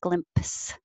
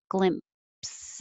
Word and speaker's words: glimpse: an S together, but we don't really pronounce the P with a lot of air like glimpse. You just hold your lips together for the M, glimpse.